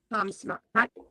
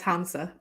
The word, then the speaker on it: Hamsa: the talk to the Hamsma. Hamsma? How do you say it? How do you pronounce it? I'm pretty sure it's Hamsa.